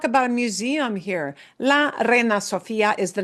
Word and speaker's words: reina: Me, sir, before asking, ¿Dónde está la Reina Sofia? Where is the Reina And actually, his pronunciation is not great there. It's reina, reina, la reina.